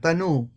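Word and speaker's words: tanū: the second Sutra means tanu means the physical body it's a long u in the end tanu whereas in Sutra number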